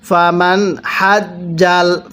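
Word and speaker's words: فمن حج: পড়ুন ফামান হাজ্জাল, ফামান নুনটা স্পষ্ট করে পড়ুন।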